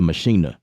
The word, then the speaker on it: Maschine: That's the correct pronunciation is the Maschine, right?